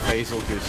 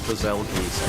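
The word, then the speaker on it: Bazelgeuse: trailer today, when they pronounced basil goose as bazelgeese, I'm like, Bazelgeese?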